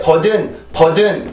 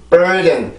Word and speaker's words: burden: 이게 절대 burden 이런 발음이 아니고 burden 이렇게 발음이 되어야 되는데 지금 여기에서도 이게 마찬가지죠.